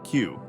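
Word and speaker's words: 九: And the number 9, pronounced q, sounds like the word for suffering.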